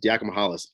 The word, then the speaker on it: Diakomahalis: I always screw that up. He's got the hardest name to say. The first name, Elias. I gotta say it like 7 times. It's Diakomahalis.